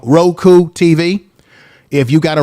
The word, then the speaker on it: Roku: we are live on ro crew i always say it wrong roku tv if you got